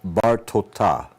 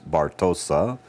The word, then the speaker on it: Bartota: Rabbi Elazar ben Yehuda of Bartota. Now I know yours says Bartosa, but in Hebrew on the other side it's really Bartota, according to Israeli Sephardic pronunciation of Hebrew.